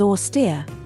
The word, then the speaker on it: austere: It's pronounced as austere, emphasizing the second syllable.